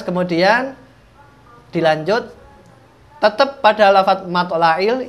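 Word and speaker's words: مطلع: dilanjut tetep pada lafadz mathla'il ini ada huruf Ain biasanya teman-teman bacanya dengan huruf hamzah mathla'il gitulah kita harus dibenarkan pada kali ini kita harus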